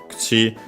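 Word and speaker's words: 口: Yeah, kuchi is one of the unaccented ones. By the way, as usual, the u of ku is barely heard if at all because it's between unvoiced consonants.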